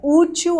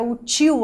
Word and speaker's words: útil: Coloca a pronúncia forte em cada uma das suas sílabas, automaticamente os seus ouvidos vão te dizer qual é aquela pronúncia audível, aquela pronúncia aceita na língua portuguesa. Então você diz que esta caneta é útil aos seus estudos ou esta caneta é útil aos seus estudos. Ninguém fala útil.